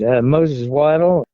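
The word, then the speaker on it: Moses Waddel: to be pronounced right Moses wad his family always said is pronounced the same as what a duck does so w is correct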